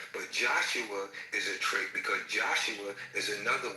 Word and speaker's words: Isa: Well, actually, they pronounce it Isa. The Muslims pronounce it as Isa, not Esau. It's Isa.